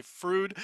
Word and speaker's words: Froude: like most of people are going to say fruit that's how we pronounce it today but we do have a